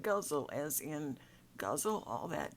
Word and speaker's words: ghazal: guzzle it's spelled G H AZ al it's pronounced guzzle as in Gaza all that drink right now